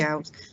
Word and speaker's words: Alves: as well, sir, but it is Deputy Alves. It's been pronounced a few different ways in this assembly, and the deputy's been here 3 years now. It's Deputy Alves.